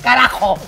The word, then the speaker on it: carajo: Ay, bueno, eso, carajo. Carajo. Así, arrastrar bien esa jota.